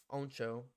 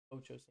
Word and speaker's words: Ocho: I would say Oncho. Oncho. Show. But then I took Spanish. Ocho.